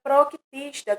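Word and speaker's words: Protoctista: Hoje em dia se pronuncia Proctista, com C.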